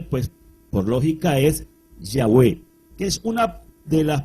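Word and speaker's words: Yahweh: se define como yista nuestra pronunciación de este nombre pues por lógica es yahwe que es una de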